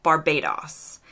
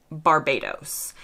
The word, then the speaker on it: Barbados: not that day but I'm always fascinated by how Brits pronounced the O in places like this so in the UK it sounds like Barbados in the US we would say Barbados while researching this video